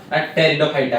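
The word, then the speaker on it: Pteridophyta: हुए अब बीज सृष्टि टेरिडोफाइटा है ना साइलेंट वर्ड देख पी पी टेरिडोफाइटा कु सूडोपोडिया है ना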